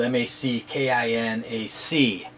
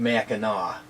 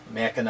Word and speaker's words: Mackinac: um mackinac is spelled m-a-c-k-i-n-a-c so you think it was mackinac but it's pronounced mackinaw so mackinaw island mackinac city mackinaw